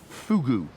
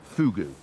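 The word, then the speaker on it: fogou: No, Fugu. I know it's spelt F-O-G-O-U, but it's pronounced Fugu.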